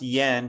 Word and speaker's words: Yiend: name's pronounced Yend. I know it's spelled weird, but my mnemonic is sounds like friend.